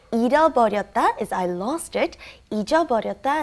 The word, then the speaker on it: 잃어버렸다: And like I said, they are interchangeable at certain situations, but you want to make it very clear when you pronounce it. It's very hard to say. 잃어버렸다 is I lost it.